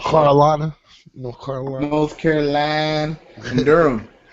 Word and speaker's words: Durham: North Carolina North Carolina Durham it's actually one syllable it's one syllable Durham d d you you